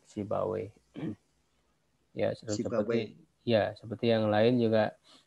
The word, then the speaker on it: Sibawayh: Siba dan waih ya, berakhiran waih. Ya kalau para ahli hadis mereka enggan menyebut waih. Ya tapi iyah ya, mereka membacanya itu sibuyah. Kalau para ahli ilmu nahu ya mereka biasa menyebut Sibawayh.